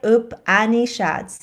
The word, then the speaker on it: Upanishads: all because it is the exact, thank you, Upanishads. Did I pronounce it right? Upanishads, yeah.